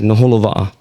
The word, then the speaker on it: Naholowa'a: It's spelled exactly how it's pronounced.